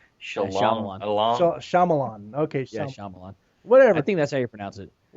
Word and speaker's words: Shyamalan: Yeah, I can't pronounce it, so I just keep fucking his name up. But Shalong-along. Shalamanon. Shyamalan.